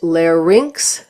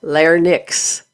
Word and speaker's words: larynx: This is pronounced larynx not linix.